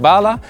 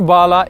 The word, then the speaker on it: Bahla: I would pronounce it Bahla, but in Arab it would have to be something like Bahla.